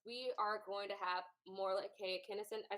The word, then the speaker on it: Morolake Akinosun: We are going to have Morolake Akinosun.